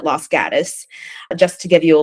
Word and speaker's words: Los Gatos: in the Bay called Los Gatos, or Los Gatos is how you would pronounce it in Spanish, but everybody there calls it Los Gatos.